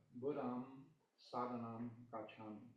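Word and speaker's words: Buddhaṃ saraṇaṃ gacchāmi: So the Pali is, pronounce it first, it's Buddham Sadhanam Gacchami.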